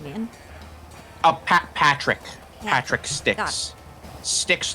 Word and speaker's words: Styx: Patrick Got Sticks. Sticks like the river, not like tree stuff. What? Like sticks like the river.